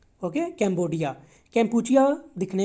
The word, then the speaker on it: कैम्बोडिया: So students मैं आपको बता दूं, जो कैम्पुचिया है ना, हम दिखने में कैम्पुचिया है, लेकिन इसको जब बोलते हैं ना जो वहाँ की कंट्री वाले, वो बोलते हैं कैम्बोडिया, ओके, कैम्बोडिया।